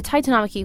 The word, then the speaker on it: Titanomachy: So this dates back to just after the Titanomachy, which sounds like I'm mispronouncing it, but that's how you say it.